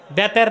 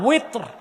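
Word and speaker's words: وتر: বেতের না, উইত্র। এটা আলেমরাও ভুল উচ্চারণ করে, মুসল্লিরা ভুল শিখে।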